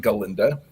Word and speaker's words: Galinda: And in the movie, or in the Broadway show, it's pronounced Galinda.